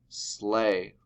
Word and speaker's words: sleigh: Sleigh. Oh, that makes that A sound. Even though it looks like it should be a long E because it has an E in there, it makes that A sound.